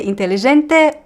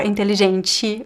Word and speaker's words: inteligente: Yes, you could say "inteligente" or "inteligenti". Both ways are correct. I say "inteligenti". That's how it sounds natural to me.